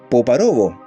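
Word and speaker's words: Povarovo: Se dice que hace unos años los soviéticos construyeron una estación de radio cerca de Poparovo. El acento está en la segunda sílaba, para que ustedes sepan, a 40 minutos en auto al norte de Moscú.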